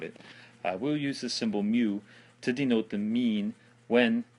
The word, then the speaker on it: mu: It's pronounced mu, like M-E-W.